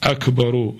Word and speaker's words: Akbar: with Bismillah ar-Rahman ar-Rahim, he should pronounce the R of Akbar as Akbaru, Allahu Akbaru, Bismillah ar-Rahman ar-Rahim.